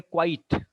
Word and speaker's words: quite: And E is silent here.